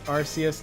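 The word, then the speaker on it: Arceus: Some of you are going to say it's Arus, not Archus, but I refuse to pronounce it that way.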